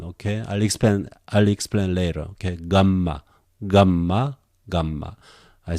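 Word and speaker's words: γάμμα: Gamma. I say again, gamma, the name is not important, but the pronunciation g, sometimes I just prefer this one still.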